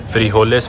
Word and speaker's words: frijoles: Frijoles means... they pronounce J as H in Spanish.